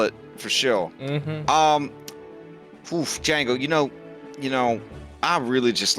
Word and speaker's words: Django: Yeah, because we both got a silent D. Yep. Mhm. That's how you spell it for sure. Django, you know, I really just like the quiet life of you, me, and Chiyuka.